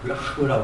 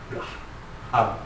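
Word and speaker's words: רוח: 이게 발음하려면 르하라고 합니다. 하자가 묵으면 르하, 르하 이래요.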